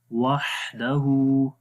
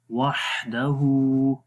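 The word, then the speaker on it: وَحْدَهُ: इल्लल्लाहु वहदहु, हा की आवाज़ क्लियर करेंगे, हा के अंदर हम्स होता है, सिफ्ते हम्स है, सांस जारी रहता है, वाह ऐसे। वहदहु सिफ्ते रखावत भी है, वाह आवाज़ भी जारी हो रही है। वहदहु, हा को लंबा करेंगे, उसके ऊपर उल्टा पेश है, उल्टा पेश को भी 1 सेकंड लंबा करते हैं।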